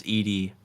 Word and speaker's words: ed: a gnu core util pronounced as distinct letters oh so it's not ed it's ed okay fine it's edie is a line editor